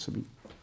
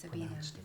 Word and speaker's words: Sabine: Just correct Sabina's name, Sabina, even though it's spelled Sabine. I thought it was Sabine. That's spelled correctly, but it's just pronounced Sabina.